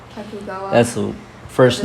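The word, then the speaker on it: Tokugawa: I'm gonna need help with these names because I forgot how to pronounce them. Mm-hmm. While Yesu and Ayasu Ayasu and how do you say that? Takugawa. Takugawa That's the first name and the last name.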